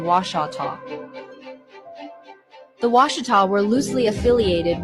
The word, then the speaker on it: Washita: The spelling Washita and pronunciation Washata.